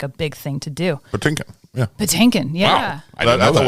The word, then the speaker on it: Patinkin: by Regis filin and Regis like pronounced his name wrong like panakin because that's what it looks like honestly and so I